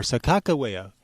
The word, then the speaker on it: Sakakawea: It's commonly spelled and pronounced Sacagawea. It could also be Sacagawea or Sakakawea, and they all mean different things.